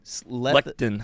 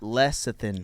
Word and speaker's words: lecithin: Lectin. Lectin. It's lecithin. It's pronounced lectin. No, it's not. Yeah, it is. Lecithin. It's pronounced Lecithin.